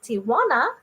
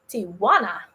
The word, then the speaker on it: Tijuana: I grew up learning to call it Tijuana until just the other day I learned that that's not how you pronounce it. So Tijuana. Tijuana. Mm-hmm. Tijuana.